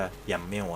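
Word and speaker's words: YAML: doger compost yml ฮะ ถ้า ออก เสียง ก็ ยำ เมว ฮะ yam doger compost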